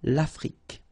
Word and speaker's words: Afrique: Final E, it's only the K at the end that you will hear. L'Afrique, okay?